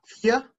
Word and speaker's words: vier: Cuatro, vier. Acá suena muy parecido a una fear y suena como si fuera fear en inglés, como miedo. Suena muy parecido. Listo. Eins, zwei, drei, vier, fünf, cinco, fünf, sechs,